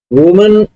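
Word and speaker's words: women: subject है सम ममन वमन single है तो वमन बोली जाती है यह इसकी प्रसन है वमन अगर एक से ज्यादा है जैसे य तो इसको विमन विमन प्रोनाउंस किया जाता है सम मनन बैक बाइट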